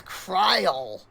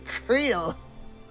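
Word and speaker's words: Krile: pronounce names themselves because Crill in English is apparently for some reason known as cryle like that's not her name it's creel well that's just how you pronounce it in Japanese yes but the name was made in Japanese therefore the Japanese pronunciation is the correct one you know my apologies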